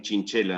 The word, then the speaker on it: Quinquela: No fue acogido con éxito porque era bastante cualunque esa primera versión de Quinquela. Aunque podríamos decirle también Chinchela, ¿no? Porque así seguramente se pronunciaba Chinchela.